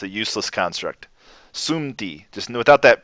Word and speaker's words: sumti: This is a hard word to pronounce, by the way, because of the tendency to want to put a P here. It's not sumti, it's sumti. It's very hard to do this as a native English speaker.